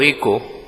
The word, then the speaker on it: Echo: puesto como título proyecto eco verdad le h no la pronunciamos en este caso es una iniciativa para